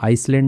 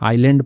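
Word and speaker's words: island: एन आइलैंड ठीक है इसको आइसलैंड नहीं पढ़ते हैं आइलैंड पढ़ते हैं द्वीप तो एन आइलैंड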